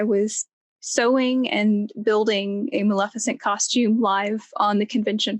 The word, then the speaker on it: Maleficent: built is the right mark you created a maleficent did i say it right yes all right